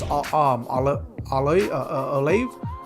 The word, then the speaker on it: Olave: I do like this Chris Olave.